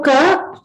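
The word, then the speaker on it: क: So to observe, Ka is a alpa prana, which means that you use less force to pronounce it.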